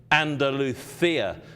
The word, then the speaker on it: Andalusia: They actually pronounce it Andaluthia, so the C becomes like a TH, Andaluthia.